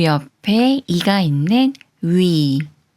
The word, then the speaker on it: 위: 위를 소리내려면 자음 이응이 소리가 없으므로 문의 우와 비슷한 우를 먼저 발음하고 키위의 이와 비슷한 이를 빠르게 붙여서 위라고 소리냅니다.